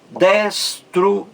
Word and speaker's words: destruindo: A sílaba mais forte. In. Esse I aí, de in, forma um hiato em relação à vogal anterior, U. Duas vogais aí, U e I, em sílabas diferentes. A mais forte é esse aí, o I, em in.